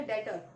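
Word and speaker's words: debtor: Like आपने अभी पढ़ा डेटर, एक वर्ड हो गया डेटर, और डेटर में बी होता है. आपको कई लोगों को ये भी नहीं पता होगा कि बी क्यों होता है, कि वो डेटर रीड करते हैं, तो वहां पे बी साइलेंट होता है.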